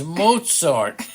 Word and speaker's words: Mozart: not even smart who's Mozart moart Mozart it's Mozart it's spelled m Moz not Mozart okay Mal pal